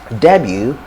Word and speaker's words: debut: have the word w debut or debut w or debut it has a t but the t is silent so it looks like